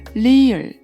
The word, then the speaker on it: 리을: Next one is 리을, 리을, and it has a L or R sound. It's somewhere between L or R, like 르, 르.